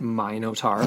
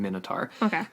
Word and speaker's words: Minotaur: myth of the Minotaur some pronounce it my note are because of its link to King - we're going Minotaur and essentially yeah we're